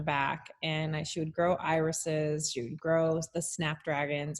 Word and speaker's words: Eyris: It's an optometry marketing company, and it's spelled EYRIS, like, so we kind of combine like iris of your eye, but eyes and the flowers.